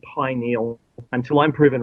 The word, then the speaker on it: pineal: Um, I I have to say that it's it's supposed to be pronounced pineal gland. And I apologize to all of those people who um took both sides of that argument. Uh the pin eel or pineal uh gland. It's in some cases mecha could be pronounced uh some say some dictionaries say both ways.